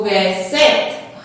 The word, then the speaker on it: sept: कहीं पे भी पी नहीं प्रोनाउंस करेंगे, सेप्ट नहीं बोलते, वो इंग्लिश बन जाएगा। सेप्ट पढ़ते हैं हम, यहां पे हम सेप्ट पढ़ेंगे।